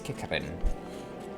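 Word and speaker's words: Qiqirn: So I basically just need to do 3 combos on some kickerns. Or kickerin. I never quite know how to pronounce that. Q-I-Q-I-R-N, I think. Is that how we spell it? Yes, kickerin.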